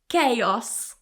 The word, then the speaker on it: chaos: The room was in chaos. The room was in chaos. Now in English, you may already know that CH is usually a ch sound, but here it's a k.